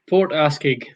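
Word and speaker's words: Port Askaig: Is it Askeig or Askeig, or how would you pronounce it? Barry, over to you. Port Askeig.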